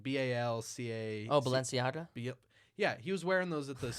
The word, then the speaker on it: Balenciaga: Oh, Balenciaga?